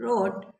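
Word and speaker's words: wrote: ही quickly ही quickly रोट उसने तुरंत लिखा। यहां भी डब्ल्यू साइलेंट है। जब कभी भी डब्ल्यू आर एक साथ में आएंगे तो डब्ल्यू साइलेंट होगा। डब्ल्यू नहीं पढ़ा जाएगा।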